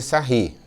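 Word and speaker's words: Sarrus: A gente aplica aqui a regra de Sarri. Se escreve sarro, você vai fazer o biquinho agora e fazer sarri, porque são os franceses que estudaram isso daqui.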